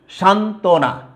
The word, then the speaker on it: সান্ত্বনা: ব ফলা যুক্ত হলে, যুক্ত ব্যঞ্জনের সাথে ব ফলা যুক্ত হলে কি হবে, বয়ের উচ্চারণটা বিলুপ্ত হবে, লোপ পাবে, অর্থাৎ বয়ের উচ্চারণটা হবে না। তাইলে উচ্চারণ কি দাঁড়ায় তুমি দেখো, উচ্চারণ তুমি দেখো সান্ত্বনা। এই যে এখানে কিন্তু আমার দেখো যে এখানে ব কিন্তু লোপ পেয়েছে, বয়ের উচ্চারণ কিন্তু নাই।